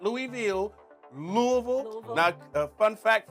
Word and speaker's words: Louisville: Louisville. Now, everybody says the name wrong, but it's actually Louisville, not Louisville.